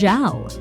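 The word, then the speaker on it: żal: Or you may be resentful or zal (pronounced jahl) – a Polish term for the melancholy felt at an irretrievable loss.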